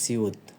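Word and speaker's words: 시옷: উপরে উঠে চলে গেছে, এটা কি বিউপ, এটাকে উচ্চারণ হবে বিউপ। এবার এখানে দেখতে পাচ্ছেন আরেকটা বর্ণ, এটা হলো সিউত, এটা হলো কি সিউত।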